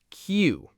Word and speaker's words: queue: The word is spelled Queue. 5 letters. And you know how many of them you actually pronounce? 1, just the Q. That's it. Q. That's the whole word. Q. All those other letters, U-E, they do nothing. They serve zero purpose.